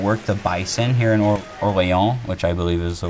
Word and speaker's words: Orléans: Okay, so we're going to work the bison here in Orléans, which I believe is the way it's approximately pronounced in French.